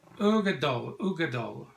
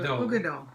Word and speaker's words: Uigeadail: This is the Ardbeg Uigeadail, and it says here on the back, Ardbeg Uigeadail pronounced. Oh, they say here. Oh, okay. Uigeadail. Okay, good. Now we know it's Uigeadail.